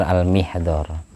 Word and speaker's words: Al-Mihdhar: Yang bacanya yang benar Al-Mihdhar, tapi umumnya orang baca dhamma.